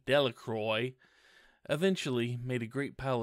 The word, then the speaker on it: Delacroix: Jones and Dicky Delacroix the villagers pronounced his name Delacroix eventually made a great